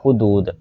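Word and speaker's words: حدود: तो इसका ये वाला सही प्रोनाउंसिएशन है, ठीक है, हुदूद। हे के ऊपर भी, हे के ऊपर पेश है और दाल के ऊपर भी पेश है, ठीक है।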